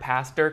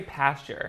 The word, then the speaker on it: pastor: Also, do you guys like how I learned how to say the word pastor correctly? I used to say pasture. Pastor.